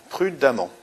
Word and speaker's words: prudemment: conduit toujours très prudemment prudemment on prononce amant donc on a une terminaison en 2 m e 2 m ent